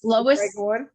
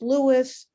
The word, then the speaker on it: Lois: i and i said think lois griffin family guy because they're not going to know superman and so i i say to them i've been pronounced louis louise so i you know